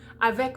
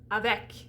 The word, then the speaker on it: avec: you would use e so you see that e in avec comes just before a pronounced consonant at the end of the word so it has to be the end and it has to be pronounced if it's not pronounced